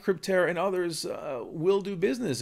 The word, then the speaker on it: Crypterra: It's actually Crypterra, not Cryptoterra. So I apologize for mispronouncing the domain name here.